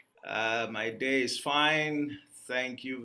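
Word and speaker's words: Emet: I am the founder and CEO of Emmet Leadership Academy. Emmet, they are actually pronounced that as M, as the Hebrew word for truth.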